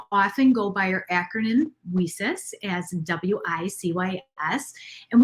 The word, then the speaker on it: WiCyS: We often go by our acronym WeSys as WICYS, and we pronounce it as WeSys, like we sisters, because that's exactly what we are.